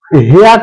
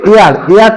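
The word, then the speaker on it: heir: হয় এক নম্বর উদাহরণটা লক্ষ্য করে দেখো যে হেয়ার টু উচ্চারণটা হবে এয়ার টু মানে এইচটা উজ্জ্ব থাকবে এয়ার টু এয়ারটা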